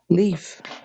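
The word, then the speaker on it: lief: the word of the day is leaf and it's spelled l i e f and it means as happy as gladly what yeah leaf l i e f an example is I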